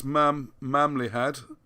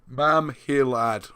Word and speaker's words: Mamhilad: So, what we need to do is this place Mamlihad. Oh, God, I say it wrong again. Mamhilad, all right?